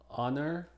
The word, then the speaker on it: honor: Algunas consideraciones es que es muda al principio de estas palabras, que no son muchas. Honor, our, honest, air, herb. Recuerden que cuando la H es muda, entonces la pronunciación empieza con una vocal.